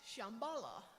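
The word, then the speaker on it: Shambhala: and wisdom Reigns and they use a really old Sanskrit word to name this place it's most often pronounced Shambala meaning a place of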